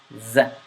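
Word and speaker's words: ز: letter dhal is because in this letter, the tongue stays behind your teeth. You say it like this. You say z, z, z.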